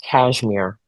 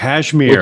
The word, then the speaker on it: Casimir: It's actually pronounced Cashmere, which Cashmere.